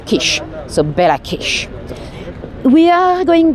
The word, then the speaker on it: Kiss: So, it's spelled kiss like a kiss, but I believe locally you pronounce Kish.